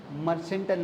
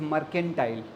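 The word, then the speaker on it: mercantile: मर्सेंटाइल नहीं बेटा, इट इज़ मर्केंटाइल।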